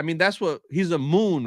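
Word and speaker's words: Muun: that's what he's a moon right Moon Moon m m that's how you say it mu uu n he's a mun he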